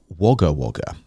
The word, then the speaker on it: Wagga Wagga: it says about wagawaga all right it's actually pronounced wagga wagga um which is interesting uh it's the largest